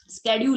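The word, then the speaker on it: schedule: स्केड्यूल, इसको शेड्यूल ना बोलिए आप बच्चों, ये शेड्यूल नहीं है, इसका प्रॉपर प्रोनाउंसिएशन जो है स्केड्यूलिंग है, या स्केड्यूल, शेड्यूल, स्केड्यूल, शेड्यूल नहीं स्केड्यूल।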